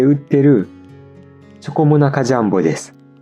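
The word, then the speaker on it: チョコモナカジャンボ: ことがあるけどノーアクセントで続けてチョコモナジャンボって言うと日本人っぽい発音になります。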